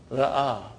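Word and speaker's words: رأى: I'm making the pronunciation of alif here. Ra'a.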